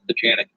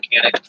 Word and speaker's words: Canik: I called it a Canik. Like, no, it's a Janik.